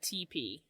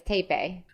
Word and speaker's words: TePe: I always called that TP, by the way. Yeah. But it actually depends on the country that you're in, how you say it. Oh. The Swedish way is Tepe.